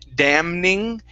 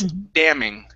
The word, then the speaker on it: damning: The N is in Nancy is silent. So instead of saying damning, it's damning. Damning.